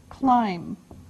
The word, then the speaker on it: climb: Now, the first verb is climb. Climb. Now, it doesn't sound like it looks. Now, if this letter, B, is silent, climb.